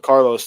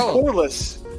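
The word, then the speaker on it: Corliss: __ ] bum and I thought you said Carlos to be fair I actually do remember Carlos Williamson thank you that's not pronounced car in what world is that pronounced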